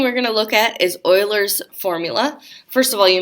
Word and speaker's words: Euler: get euler from there if I remember correctly this is a German name and they pronounced you